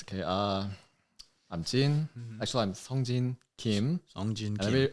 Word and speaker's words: Song Jin: Actually, I'm Song Jin Kim. Song Jin Kim. Everyone knows as a Jin because Song Jin is like hard to pronounce it for everyone. For Americans, not for Koreans.